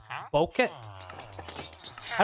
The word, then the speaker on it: bokeh: I see there is good boke. How do I say that? I actually don't know how to pronounce that. Bo. Oh, bokeh. Oh, okay. Bokeh. Bokeh.